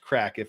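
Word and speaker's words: craic: as welsh so i believe the c-r-a-i-c is pronounced crack if uh we uh julie moss apparently was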